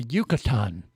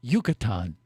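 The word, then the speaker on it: Yucatán: our stops you know that right yeah the yucatan the yucatan you say that yeah say that with me it's a peninsula yucatan yucatan no say it like you're in mexico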